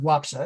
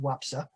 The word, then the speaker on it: Łapsa: It's actually pronounced Wapsa. It's looks like it's spelled Lapsa, but it's pronounced Wapsa.